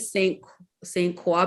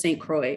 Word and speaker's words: Saint Croix: We went to, I was pronouncing it Saint Croix because I thought it was French, but apparently it's just Saint Croix.